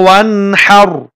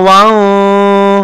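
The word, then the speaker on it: وانحر: Fasalli li rabbika wanhar. Fasalli li rabbika wanhar. Ya. Tidak dibaca dengung. Dan kalau misalnya dengung, salah membacanya. Contoh, fasalli li rabbika wan. Nah, itu salah membacanya ya. Karena idhar membacanya jelas.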